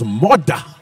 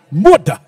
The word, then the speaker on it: Murdah: Which, if you're from Scotland, it's all right, it's Murdah. Murdah.